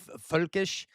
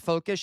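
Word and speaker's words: völkisch: No, it is it is a fulkish uh I don't know why I put an F. It is a V. Um, but I was I guess I was pronouncing it literally, but it is folkish. And there's actually two dots over the O.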